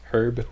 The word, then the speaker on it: herb: raccoon number 12 if I'm not mistaken red heard their blue herb there once again I'm Canadian so we pronounce herb with the H look at that fits